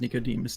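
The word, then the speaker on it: Nicodème: everyone how everyone pronounces Nicodemus' name? I usually say Nicodeme, but perfectly willing to admit that I'm anglicizing it badly. The eem would be a much softer sound. So more like Nicodem.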